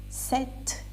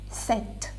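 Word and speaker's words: sept: the end sank sis set is this written as s e p d but you don't spell the you don't pronounce p that is silent set now wait nerf this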